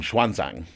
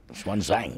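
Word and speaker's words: Xuanzang: Chinese now pronounced him swanang swanang swanang it has an X at the beginning yeah um and swanang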